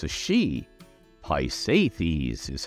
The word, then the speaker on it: Pisaethces: Boyd a female deity so it's a she hi safies is how you pronounce this tongue twister of a name though